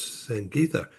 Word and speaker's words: Sangitha: I'm uh in San Diego and with us in Bangalore, India is Sang Gita. Am I pronouncing that correctly?